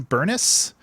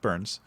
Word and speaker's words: Burnes: Listen, my last name is Burns with an N-E-S, and everybody says Burness, and no, it's just Burns.